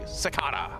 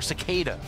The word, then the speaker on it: Cicada: it's the American sir socata or cicada Daniel Morgan never trust a guy with two first names ever you know pretty much no matter how you pronounce cicada someone will you in its Sakata yeah it's funny up